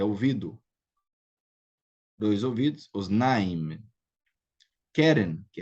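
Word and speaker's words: קֶרֶן: Então, ozen é segolado, Keren é segolado, regel é segolado, ou seja, a primeira sílaba aqui é a tônica.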